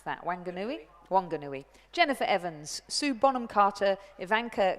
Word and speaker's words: Wanganui: The Nelson Composite is a New Zealand crew between Nelson and Union, how do you pronounce that, Wanganui? Wanganui.